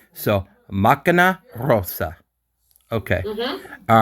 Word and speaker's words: macchina: All right, so if I'm not changing Macana, then I would think nothing would change because you No, no, said. no. Don't change the first A because you are reading it machina.